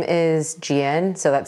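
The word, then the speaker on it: Jieun: My first name is Jiun, so that's spelled J-I-E-U-N.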